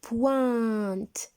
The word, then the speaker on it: pointe: Et j'ai entouré la pointe du crayon.